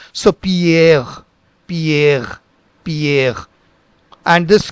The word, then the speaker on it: Pierre: So first let us look into this part, which is again Pierre, Pierre, and this one is pronounced as Curie, Curie, Curie. So now you see that same R will have a guttural sound Pierre.